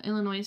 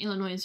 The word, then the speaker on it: Illinois: oh okay does ILL I'm don't know if I'm saying Illinois right is does Illinois ill does Illinois ill I feel like that's I'm pronouncing that wrong ill Illinois Illinois okay yeah I was like I'm pronouncing the last syllable wrong thank you does does